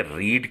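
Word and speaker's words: read: अच्छा, यहां पर यह बात भी ध्यान में रखें कि रीड की सेकंड और थर्ड फॉर्म रेड और रेड होती है। जिसको पढ़ा रेड रेड जाता है, लेकिन स्पेलिंग रीड ही होते हैं।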